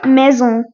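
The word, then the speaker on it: maison: तो हाउस होता है मेजों मे जो इसकी स्पेलिंग है एम ए आई एस ओ एन मेजों अब आपको लगेगा ये मे माइजोन होगा या मेंशन होना चाहिए था बट नहीं मेजो मेजो ठीक है अब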